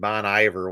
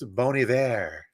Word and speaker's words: Bon Iver: Don't get this name wrong. It's Bon Iver. I said Bon Iver once, and I got rid of the got that Midwest in me, and somebody corrected me.